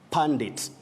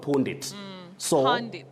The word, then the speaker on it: pundit: letter you gusto then pundit all right pundits not pawned it for those who may